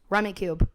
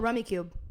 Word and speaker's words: Rummikub: Rummy Cube. Rummy fucking Cub. Love this game. It's Rummy Cube. It's such a great game. He says this every time. Fully Rummy pronounced Cub, but it's a great game.